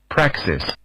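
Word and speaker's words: praxis: Practis.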